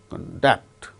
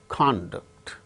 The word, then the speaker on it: conduct: For instance, conduct, conduct. The first syllable gains stress when it is used as noun, conduct. When it is used as verb, conduct.